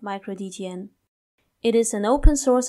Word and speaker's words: µD3TN: dtn supposed to be although it is written micro d3tn we pronounce it like micro dtn it is an open